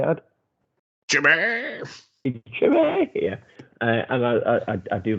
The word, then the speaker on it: Chimay: Chimay.